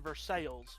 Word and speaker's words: Versailles: Everyone around here calls it Versailles, but it's spelled the exact same as Versailles in France.